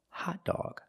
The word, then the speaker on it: hot dog: the word hot dog there are two different pronunciations of the o first ah for a hot and then all for dog hot dog thank you for watching